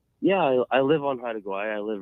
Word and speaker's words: Haida Gwaii: And now called, how do you pronounce it? Haida Gwaii Safaris. Haida Gwaii.